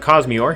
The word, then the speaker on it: Cosmiore: to encounter a cause uh or yeah a cosmeort yeah yeah that's how you pronounce it cause me or yes and uh yeah now cosmeor is not